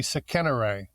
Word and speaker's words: Sekenra: i pronouncing it right sakenra i think so yeah it turns out the name is misspelled it's an it's an egyptian name that was written it should actually be sickener i left the neon somehow